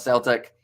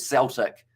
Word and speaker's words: Celtic: you nazi williams and celtic not celtic as how you pronounce cell uh celtic my friend and every sense except uh the celtics soccer team my friend see that's